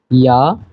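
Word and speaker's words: ja: এই যে খুবই কমন একটা জিনিস, ইয়া নাইন, এটা কিন্তু যা না, ইয়া, কারণ যে কে ইয়ট বলে এবং ইয়টের উচ্চারণটা হচ্ছে ইয়ার মতো।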